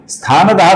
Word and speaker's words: स्थानदः: स्थानदः का जो विसर्ग है दोस्तों इसके आगे ध्रुव का ध आया हुआ है, इस कारण से स्थानदः का हम स्थान दो ऐसा ओकारांत उच्चारण करते हैं।